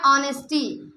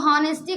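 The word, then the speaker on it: honesty: Examples जैसे आ गया ऑनेस्टी, इसको हॉनेस्टी कभी मत बोलना, ऑनेस्टी, क्योंकि यहाँ पे एच क्या रहता है, साइलेंट रहता है, इसलिए ओ से प्रोनाउंसिएट किया जाता है। हॉनेस्टी नहीं, ऑनेस्टी।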